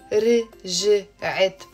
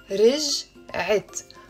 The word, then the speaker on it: رجعت: So it's not رجعت. It's two syllables. رجعت.